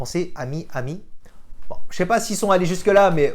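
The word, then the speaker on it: 아미: A R M Y And also Army in korean in pronounced " Ami" Ami...which is "friend" in French...Army..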